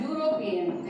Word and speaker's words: European: Similarly, European, it starts with a vowel E, but when we pronounce, it comes as European.